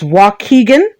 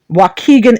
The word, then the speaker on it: Waukegan: from the system uh the way you pronounce the place that it happened is waukegan waukegan illinois thank you for